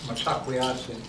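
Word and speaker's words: Mitákuye Oyás'iŋ: our Lakota language, we have a term called metakweyasi. I spelled it right up here. Metakwe. It's pronounced. It looks like metakwey oyasin, but when we say it in our language, it's metakweyasi.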